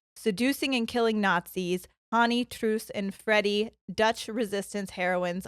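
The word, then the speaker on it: Truus: that I heard say it was truce I can't say it the way that they did it but it's t-r-u-u-s there when I was learning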